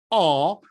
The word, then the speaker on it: ho: As for example in: YELLOW OR RED DAY OR EVENING MARA O LUCA While the verbal form HO ( I HAVE] should be pronounced with OPEN SOUND.